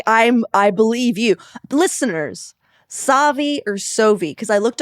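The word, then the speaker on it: Sauvie: to ask you, Eden, do you say Soviet island or Savvi Island? How do you pronounce it? I am firm believer in Savvi Island.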